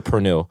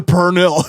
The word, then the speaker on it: pernil: Just so you know the pernil. Yeah. That's right. I said the R in it. Yeah. That's right. I don't know how to pronounce that shit. Niggas a pernil.